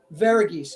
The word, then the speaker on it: Varghese: how do you say how do you say it oh it's very easy varghese okay vergeese i like that maria